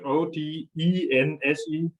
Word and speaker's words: Odense: Are you sure it wasn't O-D-E-N-S-E?